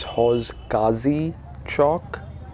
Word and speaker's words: Hauz Qazi Chowk: I could have mispronounced it a little bit earlier. It's Hauz Qazi Chowk with a Q.